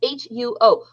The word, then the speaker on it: huo: reading like wikipedia and it's not yow i pronounced it wrong it's h-u-o huo yin-yang huo and uh what do